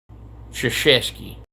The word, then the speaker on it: Krzyzewski: to be Polish, but I've never understood how k r z y z e w s k i is Krzyzewski. You don't pronounce any letters in that name except the k and the i.